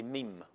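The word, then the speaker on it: mème: il leur a donné le nom de mime prononcé mime par analogie avec dean colons ces gènes en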